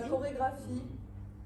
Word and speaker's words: chorégraphie: Christina, chorégraphie. Alors, en français, on entend corps et graphie.